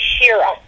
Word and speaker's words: Shira: My name is Shira. It's pronounced Shira. Oh, Shira.